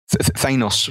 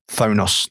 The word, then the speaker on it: Thanos: I thought Thanos from the comics was Thonos or Tonus or something for ages, and until I got to high school and someone laughed at me.